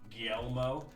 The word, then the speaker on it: Guillermo: It's pronounced Guillermo.